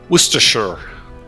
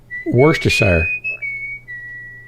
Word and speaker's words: Worcestershire: speak american english pronunciation worcestershire it's not shy they don't say shire everyone's smiling no one